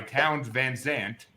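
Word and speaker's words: Townes Van Zandt: It's number 498, Poncho and Lefty by Towns Van Zandt. If I pronounced that right, I don't really care if I did, because I never heard of this guy.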